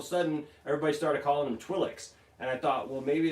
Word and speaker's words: Twi'lek: things coming from their head they called him twilight's and they were Twi'lek spur advert and that's how I always knew them was his twilight's and then all of a sudden everybody started calling him Twi'leks and I thought well maybe that's just this